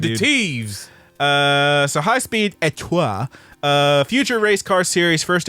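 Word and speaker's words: étoile: It's French. You have to French, you have to say it like you're a dog with Etoile. peanut butter stuck to the roof of your mouth.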